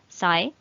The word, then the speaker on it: psi: pi x over lambda here this symbol is pronounced as psi and x which is the uh which is